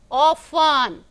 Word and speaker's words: often: Often, I told you this was having a silent letter T. Often.